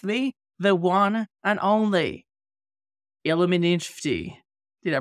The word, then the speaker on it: Illuminfti: Today, I've got with me the one and only Illuminfti. Did I pronounce it correctly?